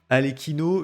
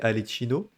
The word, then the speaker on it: Arlecchino: les choses à plat alekino je trouve que le nom il sonne pas bien dans mes oreilles j'ai prononcé Alino sauf que c'est pas la bonne prononciation alors comme j' t